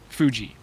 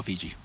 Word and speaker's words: Fuji: Like is it Fuji or Fiji? Fuji. I always go Fiji. What? Yeah. Fiji is an island. Isn't it also an apple? Fuji. Isn't it spelled the same? No, Fuji is spelled F-U-J-I. Fiji is spelled F-I-J-I.